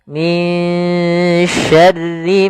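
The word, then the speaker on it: مِن شَرِّ: Maka suara nun di sini kita samarkan kepada huruf syin. Maka min dengan tipis sinnya minyarri min syarri maa khalaq.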